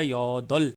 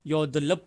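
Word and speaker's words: 여덟: तो ये बोला जाएगा योदल, योदलप नहीं बोला जाएगा, योदल शी कहेंगे इसको।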